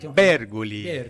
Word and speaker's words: Bergoli: Bergoli. O Papa falecido era Bergoglio. Bem próximo. Porque a questão de pronunciar o sobrenome é questão de origem.